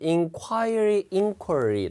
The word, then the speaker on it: inquiry: 그 inquiry, 발음은 inquiry 다 되는데 이게 복수가 되면 이제 y가 날아가고 ies가 붙죠.